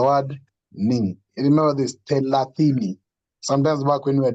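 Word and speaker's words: thelathini: So it is a te, no, it's not tele, it's tela. So you have the word telatini.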